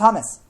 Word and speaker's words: James: starts with a J though name it's it's pronounced hamus hamus rodri I thought it was James too